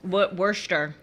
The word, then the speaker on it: Worcester: relative now don't ask me to say wor Worster oh yes Worster Worster yeah people from Worcester Massachusetts do not take